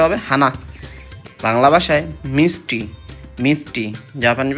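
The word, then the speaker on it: はな: হানা ফুল মানে হানা জাপানিজ ভাষা হবে হানা উচ্চারণটা হবে হানা বাংলা ভাষায় মিষ্টি মিষ্টি জাপানিজ ভাষা হবে আমাই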